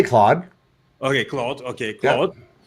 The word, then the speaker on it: Claude: For example, if you prefer to write backend code, then they say that Cloud, is it Cloud or is it Claude or what's the correct pronunciation? I say Claude.